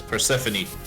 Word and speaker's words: Persephone: Oh, it's Persephone. I know. But still. Just fun to pronounce it wrong.